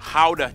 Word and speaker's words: Gouda: And the pride and joy of the nation, Gouda cheese. Yep. That's how you pronounce it, guys.